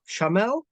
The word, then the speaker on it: Shaamel: Shaamel, is it correct pronunciation? That's right. It's Shaamel, Shaamel, Shaamel.